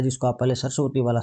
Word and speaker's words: सरस्वती: होता दंत होता है जैसे आप सरस्वती जी बोलेंगे सरस्वती जी तो आपका जो जीभ है वो दांतों से टकराए गी इनका जो उच्चारण स्थान